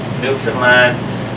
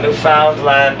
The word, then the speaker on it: Newfoundland: this than most passports these days and it's pronounced New Finland not New Foundland or New Finland New Finland is the oldest